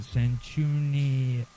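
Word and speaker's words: Sanchuniathon: cun F account of the phocian Theology and sanun cunon is spelled s a n c h u n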